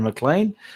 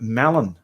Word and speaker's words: Mallon: oh yeah i've well i read it as darren mclean but it's darren mallon there you go irene